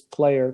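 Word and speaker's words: Pleyer: FATF president from Germany, Marcus I think it's Player, p l e y e r. I think that's how it's pronounced.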